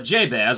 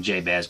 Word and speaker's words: Jabez: says in jabba uh jabez i believe that's how he's supposed to pronounce his name jabez i guess i can depend on where you're from what your accent is but and jay's jabez